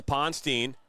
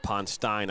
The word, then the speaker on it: Ponstein: Touched by Tessa Ponstein. Actually pronounced Ponstein, I apologize.